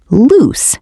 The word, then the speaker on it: loose: Loose has a longer, softer S sound, while lose has a Z sound at the end.